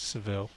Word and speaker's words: Seville: spanish pronunciation oh yes if you're going for the english it's seville marmalade comes from so